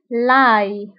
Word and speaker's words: ail: فانتبهوا بالنسبة للثوم يكتب ب A-I-L l'ail وينطق ب l'ail.